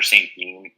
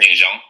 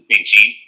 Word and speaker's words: St.Jean: So my name is St.Jean. A lot of people think it's pronounced St.Jean because French Canadian, but my father is actually from the States, so it kind of became an anglicized name, St.Jean.